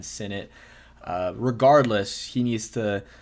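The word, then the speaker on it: Sinnott: Ben Senate Ben Senate still not completely sure how to pronounce it because he said Ben Senate but people are still saying Ben Sate uh regardless he needs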